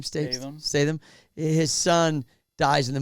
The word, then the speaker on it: Statham: you've seen the movie or not, but Jason Statham, how do you say his name? Statham.